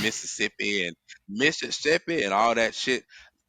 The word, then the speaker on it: Mississippi: upbringings in Mississippi Mississippi see when you from there you say Mississippi we take one of them syllables away that's how we know that y'all don't be from there y'all be saying Mississippi and Mississippi and all